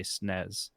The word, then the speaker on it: SNES: that why SNES for snez I think the right answer is you're supposed to say snez because that's the English way snez is shorter to say